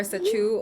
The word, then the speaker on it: Sacheu: Hey y'all, my name is Sarah or SACHEU or Sarah Chung. I want to make sure y'all know how to pronounce it because she's now her own brand.